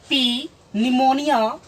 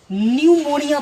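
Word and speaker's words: pneumonia: इस वर्ड में पी N combined है, ग्रुप्ड है, इसलिए पी इसमें साइलेंट होगा। इसे पी निमोनिया न पढ़ करके न्यूमोनिया पढ़ेंगे।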